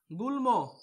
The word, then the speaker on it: গুল্ম: উন্মাদ উন্মাদ, গুল্ম গুল্ম।